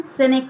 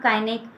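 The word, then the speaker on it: cynic: इसका pronunciation सिनिक होता है, नॉट काइनिक, नॉट किनिक, सिनिक.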